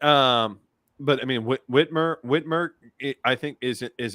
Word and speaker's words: Whitmer: and say I I what Whitmore it's Whitmer excuse me two syllables um uh I I